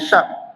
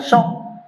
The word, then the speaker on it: syak: Yang keempat iaitu pada hari syak. Pernah dengar syak? Ejaannya syin kaf syak dalam bahasa Melayu tulisan ruminya sy a k. Syak. Jangan syok nanti lain makna.